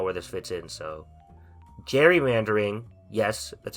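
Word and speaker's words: gerrymandering: don't even know where this fits in so Jerry mandering yes that's how you pronounce it is when instead of the people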